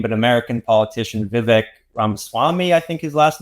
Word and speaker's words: Vivek Ramaswamy: I may mispronounce his name, but American politician Vivek Ramaswamy, I think his last name is. Vivek Ramaswamy, correct.